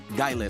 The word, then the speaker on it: Guile: Gilly, no, Gaile from my dimension. Gaile for you guys.